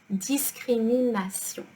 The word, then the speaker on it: discrimination: And discrimination is written in the same way. It is pronounced discrimination.